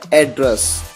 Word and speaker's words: address: इस वर्ड को दो अलग अलग तरीके से प्रोनाउंस किया जाता है। पहला तरीका होता है एड्रेस। एड्रेस कब इसे प्रोनाउंस किया जाता है? जब इसका यूज एक नाउन की तरह होता है।